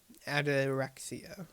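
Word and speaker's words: ataraxia: all the in of they pronounce us Adera that's how you pronounce it aderia aderia that's like the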